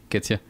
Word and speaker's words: Ketzia: So, Ketzia, did I say it right?